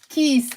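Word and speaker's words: كيس: now um keiss okay keiss with a long e I always say to you guys you have to be careful with the pronounciation of this word because if you say it with a short one like a that will mean something else it will mean vagina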